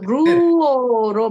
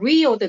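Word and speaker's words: λύω: 복수형으로 넘어가면 여기 근데 좀 목사님 그 루어로 발음해도 되고 리오도 되죠.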